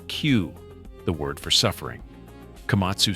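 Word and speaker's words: 九: And 9 is pronounced Q, the word for suffering.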